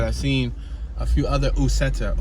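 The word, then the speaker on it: Uceta: I think it's called 3 because I've seen a few other Usetta or Uketa. I believe it's Usetta. U-C-E-T-A. Usetta. Might be a Spanish pronunciation.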